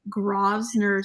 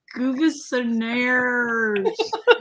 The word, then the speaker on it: Grosvenor: And I remember getting in a taxi, and I'm like, I'm going to like Guvesonairs. Yeah, just because it's in English doesn't mean that we can say it correctly.